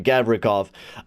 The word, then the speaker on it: Gavrikov: Gavrikov.